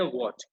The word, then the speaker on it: what: सबसे पहले सीखते हैं व्हाट। WHAT, व्हाट। इसको सही से प्रोनाउंस करिएगा, व्हाट। हम इसको प्रोनाउंस करते हैं वाट, या कुछ और मत करिएगा, मतलब इसके वाट मत लगाना।